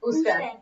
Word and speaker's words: usted: Usted. Even if it's written like that, we still say usted.